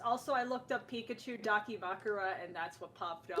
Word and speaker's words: Dakimakura: Oh, did I pronounce it right? Probably not. Dakimakura.